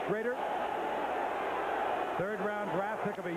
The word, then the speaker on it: Schroeder: There is Jay Schrader. Spelled Schroeder, but pronounced Schrader.